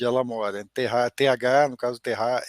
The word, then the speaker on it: TH: Então, a Luísa falou na Terra, né? Terra é como se fala em alemão TH, né?